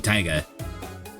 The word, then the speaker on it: Taiga: Because the way you would pronounce that in Japanese, you would pronounce Taiga in Japanese would just be Taiga.